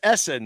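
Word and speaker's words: Ehsan: know it's it's it's his name is essen though his first name is essen but it's spelled over e-h-s-a-n essen bukhari is the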